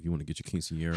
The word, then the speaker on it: quinceañera: It's quinceañera for the record.